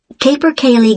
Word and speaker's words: Capercaillie: That's spelled Y-O-N-G-E. That's Young. I see. And your address? 15, Capercaillie Gardens, Aberdeen.